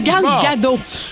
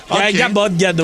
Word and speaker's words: Gal Gadot: On dit Gal Gadot. Gadot, là.